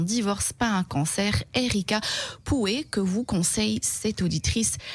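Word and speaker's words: Pouhe: Alors j'ai une suggestion de livre que j'ai reçu, donc elle dit un livre d'Erika Poué, je crois, ou Pou, comment vous prononcez ça, Claudia? P-O-U-H-E. Oui. Donc elle dit, Poué, Poué, d'accord, a écrit un très beau livre.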